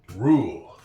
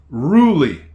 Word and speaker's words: rule: There is an exception to every rule rule. R U L E. That is not ruly. That E at the end of the word is silent.